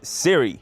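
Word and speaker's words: Cyre: Once again, following Keith's pronunciation guide, he said Siri.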